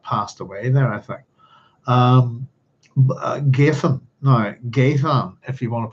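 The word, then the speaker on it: Ghadhean: I had thought that maybe the DH would be pronounced, as far as I know, like the letter thorn, so it'd be a th. So Gadhean, which is interesting because I didn't get it.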